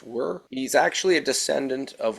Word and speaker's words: wyr: very uncommon known as it's spelled wyr it's pronounced were he's actually a descendant